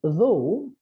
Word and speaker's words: though: In though, o u g h gives the sound o, but in through, same letters give the sound oo.